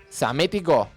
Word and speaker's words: Psamético: La teoría que tenía Psamético, con P, pero que no se pronuncia como tsunami, la T de tsunami, su teoría era ver cuál sería la primera palabra natural de la humanidad, ¿no?